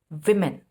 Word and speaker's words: women: How do we pronounce it? We say women.